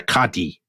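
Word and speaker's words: qadi: been named as an Islamic judge as a kadhi by the very good that was beautiful uh beautiful Arabic pronunciation so abdulkram senior is a sort of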